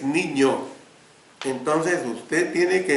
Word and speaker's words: niño: ni no ni no pero si tienes de gorosito arriba la la segunda n la pronunciación es niño entonces de usted tiene